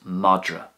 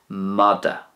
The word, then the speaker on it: madra: The Irish for a dog is Madra, Madra, and that's the way I would pronounce it. That's the way it's pronounced in the Munster dialect, Madra.